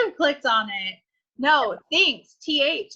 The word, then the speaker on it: Thinx: So Thinx, it's spelled like Spanx, but Thinx, Thinx.